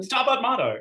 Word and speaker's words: Stabat Mater: How do you pronounce it, Jonathan? Stabat Mater, yeah, it's Latin.